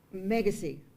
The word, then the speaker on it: Megacy: That would be with the non-game fish and game expert, whose name escapes me right now, Matt Megacy. Rhymes with legacy.